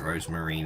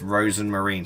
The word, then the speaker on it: Rosemarine: should be forget it rosemarine it's all right and she's like it's Rosen Marine stop saying it wrong oh I feel all